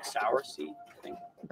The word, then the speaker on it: cerasee: Sarah Cerise c-e-r-a-s-e-e okay but it's pronounced like soursie I think I think